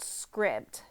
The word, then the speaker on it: Scribd: books and I recently discovered this app called Script um so I'll show you on my phone